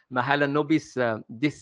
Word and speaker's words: Mahalanobis: Pronounced Mahalanobis distance measure.